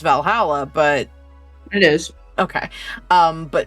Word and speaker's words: VA-11 Hall-A: We're playing a game which I assume it's pronounced Valhalla, but It is.